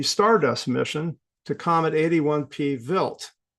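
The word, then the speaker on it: Wild: mission to Comet 81p vilt that's how it's pronounced the German name vilt uh this is another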